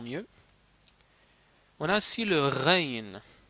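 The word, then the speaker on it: غين: On a ici le Rain. Rain, c'est comme un R, mais il est Rain, comme ça.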